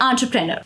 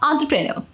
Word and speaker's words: entrepreneur: together it sounds like entrepreneur remember to stress the on syllable and the rest of the syllable should flow smoothly practice saying it a